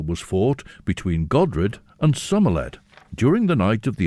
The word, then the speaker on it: Somerled: King Olaf Godredson's daughters had married Somerled, or in fact, I say Somerled, this is the way it's spelt in the Chronicles. Sorley is another way of pronouncing it in the Gaelic tradition, but Somerled it appears in the Chronicles.